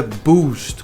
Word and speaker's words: boost: A pronúncia aqui do verbo é boost. Coloquei dois U's porque tem um som meio longo.